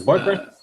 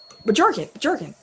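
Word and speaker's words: Bjorkgren: I think the B might be silent. It's not. It could be, but it's not. No. So is it Borgren? Bjorken. The J must be silent.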